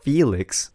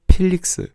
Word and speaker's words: Felix: Instead of saying Felix, you say Felix. So, instead of F, say it with a P.